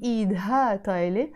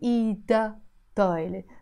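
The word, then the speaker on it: إيدها طايلة: And in the feminine form, again, I don't pronounce this he. And instead of saying idha taile, I say ida taile.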